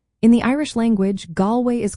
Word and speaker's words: Galway: In English, Galway is pronounced as Galway. The first part, Gal, rhymes with call, while the second part sounds like way.